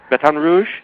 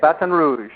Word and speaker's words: Baton Rouge: all that I know you are you're in Baton Rouge did I pronounce that right yeah Baton Rouge batan Rouge that's how they say it batan Rouge batan Rouge I'm I'm pretty good at lingu